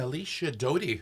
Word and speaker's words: Alicia Doty: And Alicia Doty, did I pronounce that correctly?